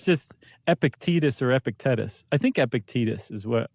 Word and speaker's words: Epictetus: Uh, well, I'm going to pronounce it epic. Epict epitectus. Epictetus.